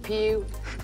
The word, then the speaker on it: Pugh: Now, did I ever go through harassment in school with Pew? Pew! Pew! Kids can be cruel when they find a name. They are so cruel, you know. And it's spelled P-U-G-H.